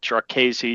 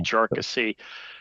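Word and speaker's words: Jarkesy: it yeah uh jassy one of the big debates is how to pronounce it jesi jery uh I think either's fine um but chesi as I pronounce it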